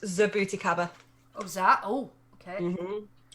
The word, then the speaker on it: jabuticaba: Oh, you mean Jabuticaba? That's it. I'm sure I get cream for that once before. It's actually pronounced Zabuticaba.